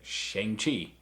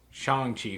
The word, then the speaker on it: Shang-Chi: And so I always read it Shang-Chi. But no, Shang-Chi for the movie.